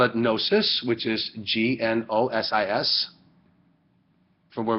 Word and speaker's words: gnosis: So, gnosis or gnosis, you don't pronounce the G in Greek.